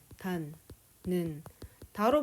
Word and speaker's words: 닿는다: 단는 다로 발음되잖아요.